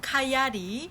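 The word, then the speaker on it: coyote: 저는 여기서 개인적으로 도키 코요테 여기 식으로 발음하면 카이 아리 그리고 라쿤 너구리 종류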